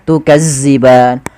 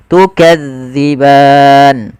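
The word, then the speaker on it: تُكَذِّبَانِ: Hati-hati di dalam melafalkan zal karena zal ini salah satu huruf idlak yang dia pelafalannya di ujung lidah kita menempel dengan gigi sari ya. Maka gesari atas dza jangan dibaca dengan zaza makan jangan baca tukazziban tapi kita bacanya tukadziban.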